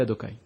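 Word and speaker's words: Adonai: Lorsque tu vois un Yud à côté d'un He, à côté d'un Vav, à côté d'un He, Yudke Vavke, la façon de le prononcer, c'est Adokai.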